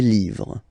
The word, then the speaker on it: livres: Les, and then same rule, you just write livre, and then you put s at the end, but then you don't pronounce it. Les livres.